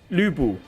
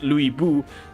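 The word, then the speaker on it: Lü Bu: Chinese pronunciation very accurate like lubu is actually pronounced lubu not yeah I know they pronounce it as Lou bu but in Mandarin Lu's pronunciation the correct one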